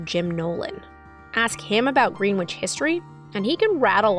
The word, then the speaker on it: Greenwich: They don't know how to pronounce a double T. It's Greenwich, not Greenwich. Say it phonetically. It's Greenwich, not Greenwich.